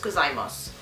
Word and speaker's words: gozaimasu: Akemashite omedeto, no, you don't pronounce the U, so it's gozaimasu.